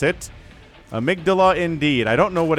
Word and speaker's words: Amygdala: I learned about it in high school, so I know how to pronounce it. Amygdala indeed.